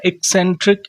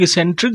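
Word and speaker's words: eccentric: ऐसे ही एक interesting word आ गया जो सभी लोग कहते हैं ना एक्सेंट्रिक एक्सेंट्रिक। कई लोग कई लोग एसेंट्रिक भी प्रोनाउंस करते हैं। बट यहां पे क्या प्रोनाउंस किया गया?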